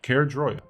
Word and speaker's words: Caerdroia: It's Caerdroia.